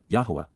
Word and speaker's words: Yahowah: Soroa of Yahwa Yahwa the proper pronunciation of the name of Eloha God as